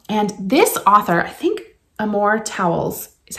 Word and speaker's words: Amor Towles: And this author, I think Amor Towles is how you pronounce the name, has been talked about a lot.